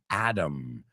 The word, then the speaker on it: Adam: buddy the movie is called the Adam project Adam we pronounce it remember Americans pronounce the word Adam